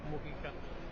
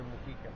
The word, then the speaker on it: Mujica: creo que incluso que son más las personas que dicen Pepe Mújica que Pepe Mujica, pero no está acentuado, compañeros, para que pudiéramos decir Pepe Mujica, tendría que haber un acento en la U y no lo tiene. Entonces es una palabra grave y entonces es Pepe Mujica.